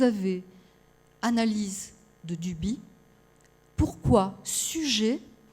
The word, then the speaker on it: Suger: Le concepteur de la cathédrale de Saint-Denis, alors on dit, ça s'écrit Sugère, on dit Suger.